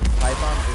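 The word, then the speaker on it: Tython: For long term, you know, he's taking Grogu to Typhon. I think is how you say that. Typhon is how you say the planet name.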